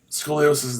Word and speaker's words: scoliosis: if they corrected it for scoliosis and usually scoliosis that's how you say it and there's the